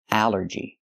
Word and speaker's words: allergy: But here it makes the a sound. The short a like in apple and black. A allergy. It's three syllables. Allergy. The stress is on the first syllable.